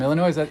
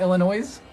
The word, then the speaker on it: Illinois: The S is silent when pronounced by the local. I know. You sure? Are you sure? It's not Illinois?